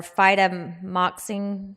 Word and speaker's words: fidaxomicin: So you're looking for oral vancomycin, usually, Flagyl, or phytomoxine. Did I pronounce that correct, my ID physicians?